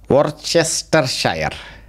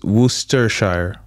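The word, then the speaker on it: Worcestershire: to pronounce this One Worchester Shire okay uh it's wer Shire it is clearly saying Worchester Shire that's why some of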